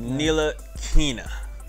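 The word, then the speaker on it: Ntilikina: Frank win streak, Ntilikinia. Let's do it. Ntilikinia. First man who ever pronounced his name right here.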